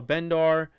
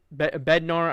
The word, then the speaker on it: Bednar: Um you saw Dval, you saw um you know, you saw Bendar as well. Um Bednar, I I keep saying his name wrong.